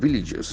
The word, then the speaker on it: village: 150 Punjab villages, Village. This is a very important word in terms of its sound. Village. Village. The letter is A, but the sound is E.